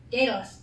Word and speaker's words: Daedalus: Starts with a D, ends with an S, and rhymes with Aeschylus. Who? Sort of. Wait, no, Pegasus. Rhymes with Pegasus. No idea. No idea. Daedalus.